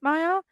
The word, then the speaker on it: Maia: Maya Mitchell. I was right. I had a feeling. And it's spelled Maia.